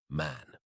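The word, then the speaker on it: Mahon: man but he insisted that it should be pronounced man he was well connected yet there was something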